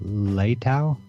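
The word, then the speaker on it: Leitão: We have a link to it in the show notes, but it's the 10 Principles of Grappling by Lucha Libre Master Roberto Leitao.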